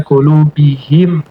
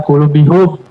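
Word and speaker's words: قلوبهم: Kalau ala qulubihim, pas ya. Ala qulubihum, pilih yang mana? Qulubihim, karena lebih, ee, enak di dalam bacanya qulubihim.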